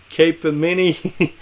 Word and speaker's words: Capgemini: Capgemini, CAPGEMINI.